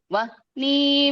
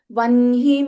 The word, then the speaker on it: वह्नि: Vijaya Vimala वन्द्या वन्दारुजनवत्सला वाग्वादिनी वामकेशी वह्नी मण्डलवासिनी. This is pronounced as Vanhi Mandalavasini. Vanhi. वह्नि.